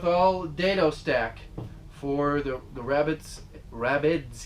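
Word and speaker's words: rabbet: I'm going with all dado stack for the rabbits. Gotta say it right. You call it a rabbit. Holy cow. God forbid it sounds like you said the word rabbit, like the bunny-eared rabbit.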